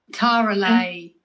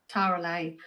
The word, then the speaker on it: Talari: Is your name Talari? Is that how you say it? Tara Lee? Tara Lay.